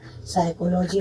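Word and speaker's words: psychology: जैसे आप जानते हैं साइकोलॉजी में पी साइलेंट होता है।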